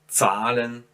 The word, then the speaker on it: zahlen: See, I don't pronounce ha, I just prolong the a here. So zahlen, fahren, das Paar.